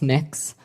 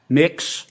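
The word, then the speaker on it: Mx.: what you're you're proposing it's pronounced mix um mix is that how you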